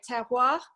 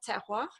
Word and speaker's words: terroir: I'm sure you can say it really well anyway, but it's like tear a bit of paper, so just tear, and then you just go, wah.